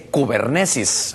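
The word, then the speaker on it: κυβέρνησις: aquí en su pantalla, viene de un griego que se dice kubernesis, aunque se escribe kibernees, pero es kibernesis, es kubernesis, cibernética.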